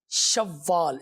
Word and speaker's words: شوال: تو یہ اسلامی سال کے 10ویں مہینے کا نام ہے اور اس کا تلفظ ہے شوال. شین واو زبر شو، واو الف لام زبر، اور اس کے اوپر آخر میں جزم ہے، شوال.